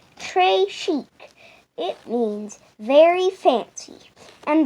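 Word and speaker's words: très chic: it like a bracelet tashik you say it like this Trey Chic it means very fancy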